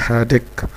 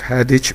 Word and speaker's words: headache: I have a हेडेक। I have a हेडेक। इसको कुछ लोग हेडिच भी पढ़ते हैं।